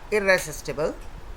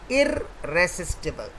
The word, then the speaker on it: irresistible: Now the correct pronunciation is irresistible, not irresistible. It's not irresistible, it is irresistible.